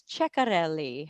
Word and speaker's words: Ceccarelli: like Delta and then her last name I pronounce it as check on le how do you say it that is correct